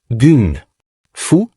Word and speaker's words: gung fu: Gun fou, la prononciation cantonaise de Kumfu, mais ce qu'il enseigne n'est déjà plus du kumfu traditionnel.